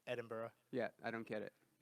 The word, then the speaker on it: Edinburgh: Edinburgh Yeah, is it's Edinburgh.